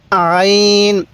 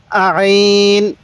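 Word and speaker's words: ع: হ্যাঁ এই হরফটির উচ্চারণ আইন এটা উচ্চারণের সময় গলার মধ্যে হালকা চাপ দিবেন তাহলে এই উচ্চারণটা সহি হবে কিভাবে পড়বো আইন আইন এরকম ভাবে শিখবো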